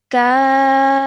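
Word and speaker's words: كَافَّةً: Maddul Kabir is found over here, which means we have to stretch the sound out of ka for at least 4 seconds, then joining the fa sound at the end because of the shadda.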